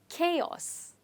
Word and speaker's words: chaos: come together generally have but here the sound is ka ka which is chaos let's try it together chaos and the stress is on k chaos what is chaos well